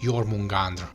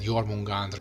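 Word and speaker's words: Jörmungandr: This is Thor, the god of thunder, and his final nemesis from the mythology, Jormungandr. And yes, I'm trying to pronounce them the way they should be pronounced in Icelandic, and if nothing else,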